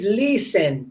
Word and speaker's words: listen: Okay, the T is mute. Okay, it's listen.